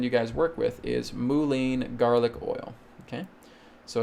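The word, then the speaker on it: mullein: i would recommend you guys work with is moulin garlic oil okay so it's spelled l m-u-l-l-e i n okay moulin garlic oil okay you can find that on amazon it's very very simple to get so mulen garlic oil and you just get this little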